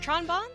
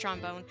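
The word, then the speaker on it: Tron Bonne: So up in the top left there, we have Tronbon. I think it actually has to be pronounced Trombone.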